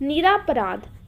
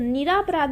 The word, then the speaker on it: निरपराध: निरापराध, तो निरापराध ना होके निरपराध होता है, ठीक है, निरपराध।